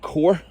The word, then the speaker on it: corps: Leadwich and Wade, who were two deserters from Lord Ely's corps, or corps, as they say in America, which is actually the proper pronunciation.